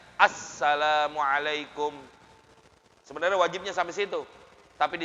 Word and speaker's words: Assalamualaikum: Yang penting apa? Assalamualaikum. Ada alif lamnya. Jangan salamualaikum warahmatullah. Salamualaikum. Ada nggak alif lamnya? Kurang. Salamualaikum. Harusnya apa? Assalamualaikum.